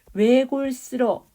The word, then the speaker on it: 외골: 외골수로 외에는이 외자 있잖아요 이거 단모음이잖아 단모음 단모음인데 이게 이중 모음으로 발음하는 것도 이중모음 발음도 허용하는 거야 허용하기 때문에 원래는 이렇게 외골 외골 이렇게 발음해야 되는데 뒤에 있잖아 왜 이렇게 이중모음 발음해도 허용한다는 것이고 여러 면상이에요 뒤에가 형식